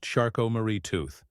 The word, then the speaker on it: Charcot-Marie-Tooth: It's called Shot Marie tooth disease, softly pronounced Shco Marie tooth, a name that sounds almost delicate compared to what it does.